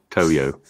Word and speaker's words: Toyo: It's not a yo-yo. Toyo.